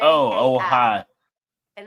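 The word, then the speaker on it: Ojai: see here oh oh oh and it's called pronounce it OHA now I'm that's because that's not that's not English it's probably not but it's California it's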